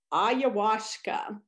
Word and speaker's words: ayahuasca: And they may use, oh, wait, I think I wrote somewhere how to pronounce this. Let me look at my paper. Yeah, it's ayahuasca.